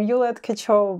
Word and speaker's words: Yuliia Tkachova: inviting me and having you want correct my pronunciation um yeah so I'm you kacho but it's so much fun yeah so tell